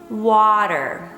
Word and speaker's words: water: all right on to the second word water there are two syllables the first is wah and the second one is der so make sure your wall is very long it has a very long vowel ah water try to whisper it